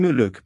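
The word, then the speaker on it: Muluc: In Mayan muluk pronounced muluk is the moon or the cycle of ritual to the maya.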